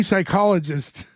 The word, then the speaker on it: psychologist: worried about this P psychologist." She gets corrected. We talked to Don and Sally. It's It's just a man. The P is silent.